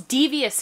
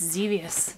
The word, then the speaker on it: Xevious: going to dangerous it's devious it's zevious yes great zevious it's a